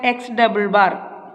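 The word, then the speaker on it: x̿: Then second step is that calculate the grand average, that is it's pronounced as x double bar.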